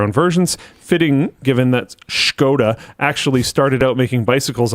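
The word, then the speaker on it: Škoda: Pretty sure it's pronounced Skoda.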